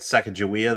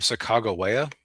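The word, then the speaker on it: Sacagawea: Uh the funny thing is I I had a teacher once who was very clear once that you would actually pronounce her name Sak Chicagoa.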